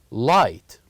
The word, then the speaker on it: light: H light light and here we don't pronounce g and H we only write it but we don't pronounce it light and with the